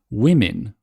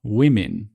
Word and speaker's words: women: Women. Women. So that's an I sound.